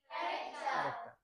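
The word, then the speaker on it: character: ক্যারেক্টার।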